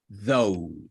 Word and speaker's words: though: So, Though. though. Though. Dog. Though. Dog. Though. No hay nada al final de la O. No hay ni O ni nada de eso.